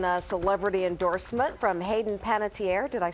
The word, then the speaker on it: Panettiere: mentioned you've gotten a celebrity endorsement from Hayden pantier did I say her name right there you